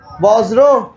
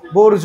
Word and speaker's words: বর্জ্য: আগে হচ্ছে ব, তারপর কি রেফ না? আগে ব, তারপরে রেফ র, তারপরে কি জ। কিন্তু শুধু কি জ, জফলা। তাহলে কি হবে? বর্জ্য বা বর্জ্য। আচ্ছা, মেইনলি এটা বর্জ্য হবে।